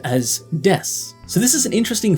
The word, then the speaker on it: です: written as de Su but it's said as Des so this is an interesting thing about both